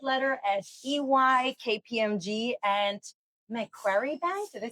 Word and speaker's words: Macquarie: climb the corporate ladder at EY, KPMG, and Macquarie Bank. Did I say it right? Macquarie Bank, close enough.